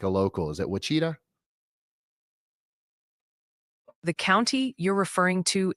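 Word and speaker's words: Ouachita: Is it Wacita? The county you're referring to is pronounced Wita like wash as in the action.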